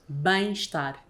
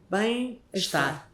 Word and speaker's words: Bem-estar: Bem-estar. Bem-estar.